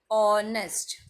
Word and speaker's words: honest: the word honest man the alphabet H is silent so honest we start with the